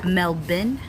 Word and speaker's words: Melbourne: and then Gaga something melbin melburn melbin melbin so Melbourne has always been melbin melburn wait is it melb or melbin dkt said Mel Ben seriously I was saying wrong